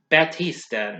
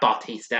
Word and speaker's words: Lloyd Batista: Voicing Papa Mousewitz is Lloyd Batista, not Bautista. I didn't want you to get him confused for Dave Bautista. So, it's Batista. It's spelled Battista, okay?